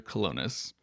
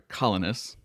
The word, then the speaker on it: Colonus: is the next track, Fair Colonis or Fair Colonus as he sings it, which I think is it made me go, "Wait, have I been saying it wrong?"